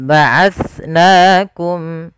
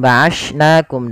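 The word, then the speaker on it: بَعَثْنَاكُمْ: Jangan sampai kita menggantinya dengan ba'ashnakum dengan sin.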